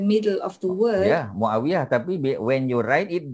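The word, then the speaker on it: معاوية: Because you don't call him Muawiyat, right? You don't say Betul. if it's in the middle of the word. Yeah, Muawiyah.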